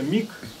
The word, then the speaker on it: миг: проживу Я за каждый миг запятая миг на конце г с новой строчки бу каждый миг который проживу Я за каждый миг г читается Мик к на конце а пишется миг запятая который проживу Я